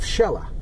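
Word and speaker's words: Xela: to say it uh it's got a nickname of shella x e l a and um uh at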